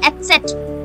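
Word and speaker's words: Eszett: Beta sign called Etzet.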